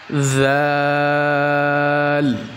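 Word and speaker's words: ذ: হা, খ, দাল, জাল। জাল উচ্চারণের সময় জিহ্বার আগা সামনের উপরের দুই দাঁতের আগার সাথে লাগিয়ে উচ্চারণ করতে হবে।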